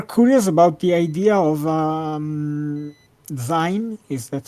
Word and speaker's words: zine: it's zine. Think of it as being short for Zine. Okay. magazine, Okay. Thank you. because they're Um, like little magazines.